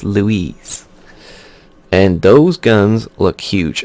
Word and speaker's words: Louis: I'm going to say St. Louis because that's how they say it in French for sure. It's not Louis, it's Louise.